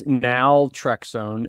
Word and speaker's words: naltrexone: Can you help me pronounce that one? Yeah, it's naltrexone and buprenorphine.